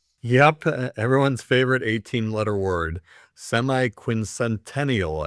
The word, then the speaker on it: semiquincentennial: Semiquincentennial I believe it's pronounced or quarter millennial or just 250th.